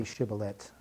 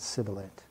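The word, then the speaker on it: shibboleth: at times we know we need to be able to say shiblet and not sibilant we know that we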